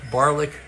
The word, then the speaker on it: Barlick: Barlick rhymes with garlic so he can't be all bad.